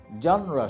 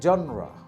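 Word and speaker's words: genre: শব্দটা হচ্ছে জনরা, নট জিনার, নট জেনরে, শব্দটা কি? জনরা।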